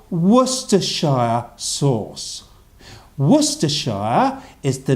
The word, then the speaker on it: Worcestershire: sure what's the sure Worcestershire Worcestershire good Hugo ruff are very good very good here that students Worcestershire although if it's if most people in England just just say Worcester Worcester Worcester sauce do was to saw